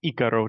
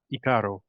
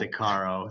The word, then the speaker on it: Icaro: I was making sure I'm pronouncing Icaro, not Icaro, correct? Yes, although we do for our American audience, we do accept Icaro, so either Yeah, one works.